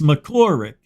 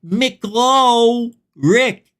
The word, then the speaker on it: McCorlick: It's McCorlick. I don't know why people say my name wrong. It's right there. The L is before the O, and Rick's at the end. How hard is it to say McClaw Rick?